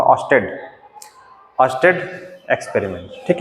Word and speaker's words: Oersted: अर्स्टेड कई लोग पढ़ते हैं, लेकिन इसका सही प्रोनाउंसिएशन होगा ऑस्टेड।